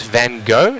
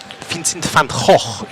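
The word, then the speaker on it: Van Gogh: right so uh as As Americans would say Vincent Van go actually that is Vincent F Vincent F if you're Dutch as Vincent F was that is how you say that last name originating out of Holland but trying to make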